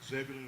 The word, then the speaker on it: Zebulon: She comes from Zebulon, I believe it was. Zebulon. Yeah, some people would call it, but Zebulon is the proper pronunciation.